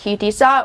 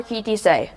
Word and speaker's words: Ki Tisa: My Torah portion is Ki Tisa, pronounced Ki Tisa or Ki Tisei.